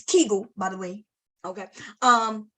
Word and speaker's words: Kegel: that say Tango muscles it's Kegel by the way okay um but okay you can pronounce how you want um so the vagina